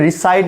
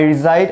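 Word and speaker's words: reside: পারি আই রিসাইড in actually এটা রিসাইড না এটা রিসাইড অর্থাৎ এখানে এস এর উচ্চারণটা আমাদেরকে জ এর মত করতে হবে জো আই রিসাইড ইন অথবা ইন ঢাকা অথবা আই রিজাইড এট মিরপুর আমি মিরপুরে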